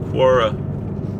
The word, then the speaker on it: Quora: I've given on Quora or is pronounced Quora it's qu o RA